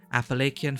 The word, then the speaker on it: Appalachian: on Cryptids and Appalachian sorry how do you pronounce it again Appalachian folklore ah thanks Kanika smart whatever those creatures